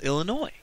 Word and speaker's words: Illinois: uh Chicago resides in what is the name of that state the S is silent no no I didn't